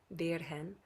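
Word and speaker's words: Virgen: is Virgin Mary but in the Spanish pronunciation the V sounds a little more like a b and the g sounds a little more like a birhen Maria but mother of all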